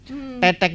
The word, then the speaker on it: tetek: dengan kesenian Patrol ya tetek itu sendiri ya lebih dari bambu itu ketika dibunyikan tek tek tek tek mereka teknik ya jangan keliru membacanya nonton Teteh ya Iya dengarnya roda teteh-teteh